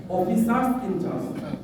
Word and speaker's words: অফিসার্স ইনচার্জ: অফিসার্স ইনচার্জ, এটা হচ্ছে সঠিক উচ্চারণ।